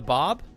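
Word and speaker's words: Báb: prophet of the Baha'i the Bob because that's spelled b-a-b okay um I don't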